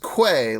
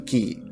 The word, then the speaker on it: quay: It's not it's not pronounced quay like a lot of people out there think. It's actually key.